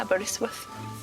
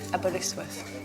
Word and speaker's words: Aberystwyth: Am I saying it right? Aberystwyth. Aberystwyth.